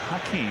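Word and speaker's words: Hakeem: And that is the correct pronunciation according he missed the second one here. to the PR office. Here it is. Hakee.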